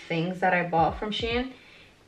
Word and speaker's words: Shein: that I bought from Shan I think that's how you pronounce pronounce it Sheen Shane Shane Shane I believe is Shane and so this is like